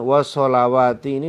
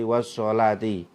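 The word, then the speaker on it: والصلاة: surat al-baqarah ini tulisan wa sholawat ini dibaca wasolah ya riwayat Imam Hafiz dari mesin dari Rasulullah Shallallahu Alaihi Wasallam ya jadi bacanya bukan wa sholawati tapi washshalaati ayat 238 riwayat Imam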